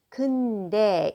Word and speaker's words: 근데: Let's look at 그런데, often pronounced 근데 in everyday conversation in short.